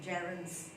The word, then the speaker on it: gerund: So today again, I will answer this question, gerunds. Okay, the pronunciation is gerund and I have heard people saying gerund, so I would say it's gerund.